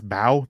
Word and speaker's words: Mbow: I would go Marcus Bow. The M is silent.